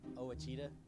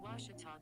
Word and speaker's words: Ouachita: ouachita sports digital network i've heard people say oh a cheetah oh wichita oh a cheetah is it pronounced oh akita searching for washi at a baptist university back in texas everybody pronounces it wichita but really it's ouachita washington washington how would